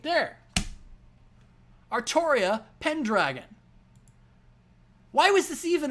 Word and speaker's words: Artoria: I've seen people suggest that Altria is the correct way to Romanize the katakana for the pronunciation of the name, and that Altria is, in fact, the correct way to spell the name. But I think anyone will agree that actually pronouncing it that way is fucking stupid.